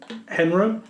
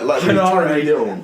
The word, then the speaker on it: Henare: Chase Owens and Yujihiro Takahashi defeated Toa Henro.